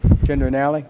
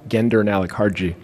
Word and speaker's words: Gendernalik: Mr. Gendernalik, is that right? Gendernalik. Gendernalik? Gendernalik, hard G.